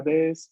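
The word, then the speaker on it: です: Cuando vemos el su final, usualmente pronunciamos únicamente la S, ¿no? Porque sería o la cópula des o la forma en más de los verbos que vamos a empezar a ver próximamente, pero que la U final no se pronuncia. O decimos arimas, des, ¿no?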